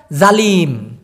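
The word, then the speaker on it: zalim: জালিম, জালিম, জালিমটাকে উচ্চারণ করে ওরা জালিম, জালিম এরকমটা উচ্চারণ করে, মানে জেড দিয়ে, যেমন আমার নাম, এরকমটা জালিম, একই জিনিস।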